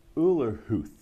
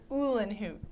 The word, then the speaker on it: Uhlenhuth: And I'm talking to Uhlenhuth. Did I get that right? No. I trashed your last name. It's all right. It's Uhlenhuth. Uhlenhuth.